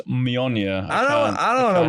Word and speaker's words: Mjolnir: Like, Mjolnir is my hammer.